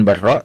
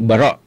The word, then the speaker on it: Bara': Dan beliau ini kadang dalam banyak tulisan atau kadang juga diucapkan Barra, ya, dengan tasydid ra. Tapi sebenarnya yang betul bitakhfif ra, ya, bukan Barra tapi Bara' bin Azib.